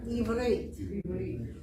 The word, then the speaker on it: Ivrit: Ivrit. Ivrit. So if you want to say, I speak Hebrew, you'd say, Ani medaber Ivrit.